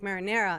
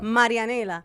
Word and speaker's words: Marianela: Like, growing up, going to school, they would call me, like, marinera. And I'm like, guys, no es tan difícil. Yeah. Marianela.